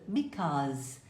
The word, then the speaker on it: because: Pronuncie because, como se fosse um O, e o Z, because.